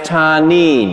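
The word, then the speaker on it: תנין: a number of times it's a hebrew word it's pronounced ta nin can you say tane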